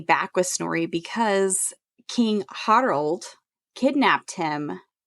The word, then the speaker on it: Harald: quote, well, the audiobook narrator pronounced it Harald. That's weird because it's spelled Harold. Well, yeah, but it's Norse, so you have to pronounce everything with a rolly R. Harald.